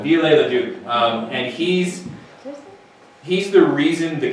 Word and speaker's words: Viollet-le-Duc: Yeah, so it's spelled like Violet Leduc, but Viollet-le-Duc.